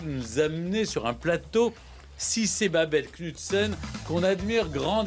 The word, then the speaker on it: Sidse: D'abord, elle s'est présentée comme Cissé. J'ai compris que le D ne se prononçait pas. Comme Djibril, en fait.